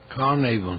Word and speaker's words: Carnarvon: Pero la historia cuenta que este señor Howard Carter fue y le pidió cacao a Lord Carnarvon, o Carnarvon, ¿cómo se pronuncia? Carnarvon, sí.